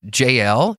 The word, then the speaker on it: Jael: actually one of your Bible bash episodes about Jael is that how you say her name yeah